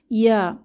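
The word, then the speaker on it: ياء: জিহ্বার মধ্যভাগ তার বরাবর উপরে তালুর সাথে লাগিয়ে উচ্চারিত হয় ইয়া। তবে ইয়া উচ্চারণের সময়ও তালু থেকে জিহ্বার মধ্যভাগ কিছুটা পৃথক থাকে।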